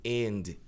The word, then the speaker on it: and: Aqui a gente tem o fenômeno do fenômeno do D que some especificamente aqui com essa palavra, né? Com o and e quando ele vem seguido por somgal. Olha lá, and. Tem nada de errado. Falar and I think. Tem muita gente que fala, mas é comum simplesmente esquecer o de and I think.